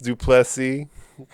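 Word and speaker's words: du Plessis: stupid uh additionally drinkus duplessy the last s is silent is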